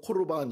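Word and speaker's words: קרבן: 그러면서 하나 예를는게 뭐냐면 고르반 이 여기 11절 말씀에 나오잖아요 고르바 대한 예를 들어요 고르반이라는 말은 원어적 코르반 이렇게 발음을 하는데이 고르만이 뭐냐 하나님께 드려질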